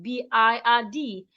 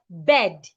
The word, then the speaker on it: bird: will pronounce this word B I R D as bed. No, do not make that mistake. Henceforth because of the R beside the I, the sound becomes longer.